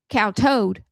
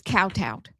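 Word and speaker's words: kowtowed: Now somebody people says it's cow toad. I ain't say that. It's cowtowed.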